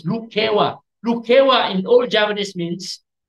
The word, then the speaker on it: Lukewa: Even then, for over 200 years, people misread or mispronounced the word Lukewa as Lekiu. It's not Lekiu, it's Lukewa.